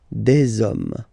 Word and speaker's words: des: om and after that you just put the S at the end you don't pronounce it so you get Des okay singular form plural